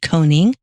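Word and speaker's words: conning: Now, a coning tower, C-O-N-N-I-N-G, coning.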